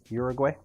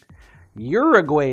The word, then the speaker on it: Uruguay: could cyber Imagine arell One Fernandez is open Uruguay that's where you want to go Uruguay is how it said fair enough fair enough